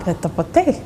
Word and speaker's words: prêt-à-porter: Oh, prêt-à-porter.